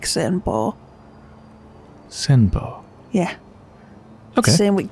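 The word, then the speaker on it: Senpou: You keep pronouncing it like Senpao, but it's like Senpo. Senpo. Yeah. Okay. Same with Kyobu. The OU is just O. So Senpo.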